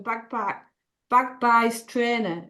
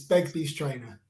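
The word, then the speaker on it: Begbies Traynor: So moving on to our second speaker, Thomas Harris from Bagby's Trainer. Is that pronounced right, Thomas? Probably not. It's Begbie's Trainer.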